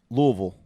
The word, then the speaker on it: Louisville: you guys saw that you got to say it like this louisville that's right louisville louisville